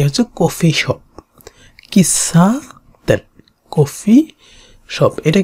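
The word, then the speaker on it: 喫茶店: সা, এটা ছিল তেন, এ হচ্ছে কফি শপ, কিসা তেন, কফি শপ।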